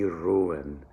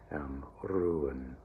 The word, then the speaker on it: ruhen: All right, Sie ruhen. All right, remember IE rule, and the Z will begin with the letter Z. Ruhen. Okay, and it is that second syllable is also an unaccented schwa, never ruhen.